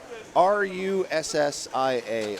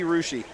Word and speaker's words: Russia: I live in Ohio most might say Russia like the country Ria you'd be wrong that'd be rushi rousi uh yeah that' be rushi Ohio that's like all